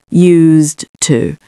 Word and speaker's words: used to: But then when we come to this, used, used, used to. Okay, so just remember there is a slight change of pronunciation when you say to get used to something.